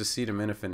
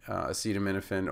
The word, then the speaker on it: acetaminophen: back-building in the drug, it's as in comma, C as in ceiling, ta as in data, mi as in mint, na as in cannon, so it's not acetaminophen, it's nuffin, and then fen, like, is in hyphen.